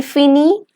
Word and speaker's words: finit: From je to on, it's the same pronunciation. Even though in the ending we have IES and IT different, but the pronunciation is same, fini.